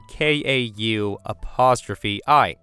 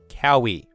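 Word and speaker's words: Kaui: My name is spelled K-A-U''I. It looks daunting, but it's just pronounced Ka'ui. It's honestly not very difficult in my opinion. Also, I wouldn't have minded if people called me Cowie, like how it's spelled.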